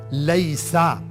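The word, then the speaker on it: ليس: अब इज नॉट जैसे होता है लैसा, ये तकरीबन वर्ब की तरह है, लेकिन थोड़ा सा आपको सिखाना है। लाम के ऊपर फतहा, या के ऊपर सुकून, लय, सीन के ऊपर फतहा, लैसा। इज नॉट ये भी वर्ब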